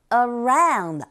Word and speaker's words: around: Around 같은 경우에는요, 이 강세가 around, ow 이 부분에 있고 첫 번째 쓰인 어라는 모음 소리는 이 강세가 없어요.